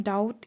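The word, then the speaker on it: doubt: है I have some डाउट in this lesson I have some डाउट in this lesson डाउट डी ओ यू बी टी डाउट डाउट मतलब होता है संदेह इसमें ब silent होता है नेक्स्ट सेंटेंस वी हैव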